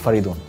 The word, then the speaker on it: Faridoon: My name is Faridoon. Faridoon? Yeah. Okay, how do you spell it?